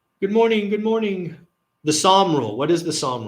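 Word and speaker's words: Sahm: And Psalm is spelled S-A-H-M.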